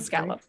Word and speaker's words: scallop: done it's it's two two syllables scallop s and c any like gallop but scowl scallop i can't get